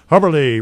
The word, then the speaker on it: Hubberly: Hubberly rhymes with Zacherly.